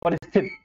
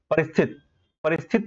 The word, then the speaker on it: परिस्थिति: परिस्थित, ये परिस्थित बन रहा है, आप इसे पढ़िए तो सही से। परिस्थित नहीं होता, परिस्थिति होता है, परिस्थिति।